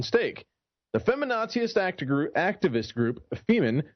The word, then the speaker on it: Femen: The feminaziist activist group Femen, which, yes, not only rhymes with semen, but also has the